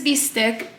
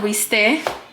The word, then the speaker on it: bistec: So this is bistec de pierna, or bistec. I don't know why they don't pronounce the C.